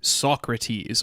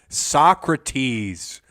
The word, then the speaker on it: Socrates: Roberto Roselini with 1971's Socrates or Socrat as the Europeans are so inclined to pronounce it. Yeah. Socrates. Speak it normal like how he was saying it when he was alive.